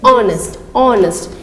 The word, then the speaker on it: honest: You have to pronounce it honest. H is silent.